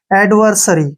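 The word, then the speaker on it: adversary: एडवर हो गया अब एस ए आर वाई ठीक है ना एस ए से क्या बन गया श और आ से र और वाई का उच्चारण ई होगा एडवर्सरी क्या पढ़ेंगे इसको एडवर्सरी वर्सरी होता है शत्रु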